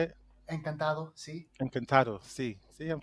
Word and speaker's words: encantado: Encantada, is that how you say it? Encantado, sí.